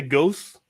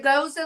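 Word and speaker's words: Gose: Weston Feer I get I get annoyed when people can't pronounce goza properly oh yeah oh can I get the ghost can I get the goose that that's my that's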